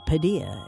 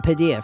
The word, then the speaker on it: Padilla: And back then I was called Padilla, and the radio DJ pronounced it, you're listening to the music of Padilla, and I thought, okay, fine, I'm Padilla from now on.